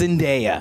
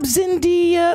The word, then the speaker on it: Zendaya: there's so many different it could have been zendayas and daiya there's a lot of z's in your family name it's just sunday it's just zendaya yes how awful is it when you go